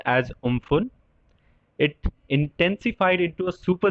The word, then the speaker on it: Amphan: Cyclone एम्फन, it is pronounced as Umphan.